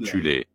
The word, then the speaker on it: Thulé: Avant la montée du régime national-socialiste, il existait en Allemagne une société secrète occulte appelée la Société de Tulle, parfois prononcée alternativement Thulé, composée de sous-factions en son sein.